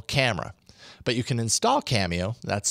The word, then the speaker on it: Camio: on my Nexus 5 cameo will analyze the video to determine if the